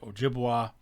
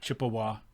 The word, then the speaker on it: Ojibwe: at time of contact ojibwe or ojibwa and sometimes that was sort of uh mispronounced or pronounced in such a way by the american colonists that ojibwe became chippewa which is where we get chippewa so chippewa ojibwe ojibwa